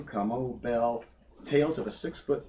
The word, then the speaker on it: Kamau: my name is Debbie kamau Bell I appreciate all your attention pronunciation come out start there come come as a Kikuyu word for quiet warrior I am NOT Kikuyu